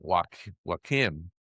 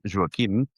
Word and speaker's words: Joaquim: the United States, but I was pronouncing it Joaquim. This is like in Castilian. But it's pronounced Joaquim. Yeah.